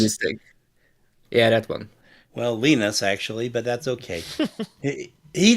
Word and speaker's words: Linus: Well, Linus, actually, but that's okay. He doesn't get upset about any of it. Or if I wanted to be more precise, I could use apparently this Finnish pronunciation is Ines.